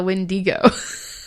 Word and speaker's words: Wendigo: See, I keep calling it the Wendigo. It's correct both ways, which drives me nuts.